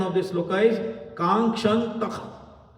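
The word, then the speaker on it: काङ्क्षन्तः: So the right pronunciation of this sloka is Kankshantah. Kankshantah. There should be Kha in between.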